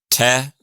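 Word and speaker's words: тэ: And the te, does it sound like an English T?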